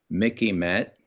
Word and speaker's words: MICIMATT: It's the Mickey Matt, and I'll spell it out if you have a pencil.